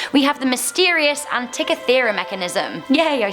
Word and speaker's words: Antikythera: Coming into number 6, we have the mysterious Antikythera mechanism.